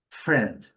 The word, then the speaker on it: friend: Friend friend colocando aquele u, aquele u para fazer o r, né? O r chamo de rflex friend. Pronúncia bem simples também, sem esquecer de eliminar o i na pronúncia.